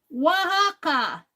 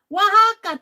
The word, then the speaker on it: Oaxaca: Pronounce it as Oaxaca. Oaxaca.